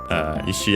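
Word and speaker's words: 石: Ishi accent on the last syllable, by the way, just like Iwa, also accent on the last syllable.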